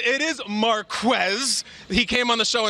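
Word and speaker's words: Marquez: that mean Marquess Valdez scantling he stuck the pronunciation it is Marquess he came on the show and told us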